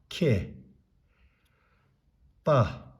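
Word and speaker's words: མཁས་པ: between two dots and we know ma is one of the prefix उच्चारण नगर्नु पर्ने पाँचवटा मध्ये यो मा पनि हो सो मा हो खा सा खे पा खेपा खेपा these two syllables makes one word यो दुईटाले एउटा अक्षर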